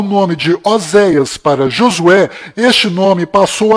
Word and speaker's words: Oséias: Este nome que você está vendo é o nome de Oséias, que do qual Moisés mudou para Josué, mas a pronúncia correta de Oséias é Rochéa.